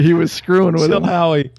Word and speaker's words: Chilhowie: Chilhowie. Maybe that is how you say it. I've always just said Chillouee.